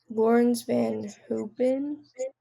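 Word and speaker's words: Laurens van Hoepen: Then we have ART Grand Prix, and we have Christian Mansell, Lawrence Van Hoopen.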